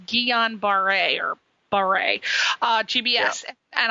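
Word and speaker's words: Guillain-Barré: the um yeah getting geometry and you did pronounce it correctly Guillain-Barre um was was crazy and I was completely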